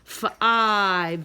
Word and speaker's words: five: find the number three so long I the e is silent says I says its name five the number five go